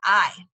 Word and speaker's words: hay: Remember, in Spanish, you don't pronounce the H. The H is silent. The H never makes a sound, so just pretend it's not there. So it's ¿cuántos hay?